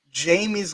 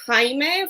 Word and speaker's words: Jamie: So once Jamie comes back, and full disclosure, I pronounced her name as Jaime for like the longest time until I spoke to her.